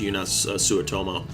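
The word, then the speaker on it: Joonas Suotamo: then also Solo eunice I think it's pronounced eunice sua tomo he took over the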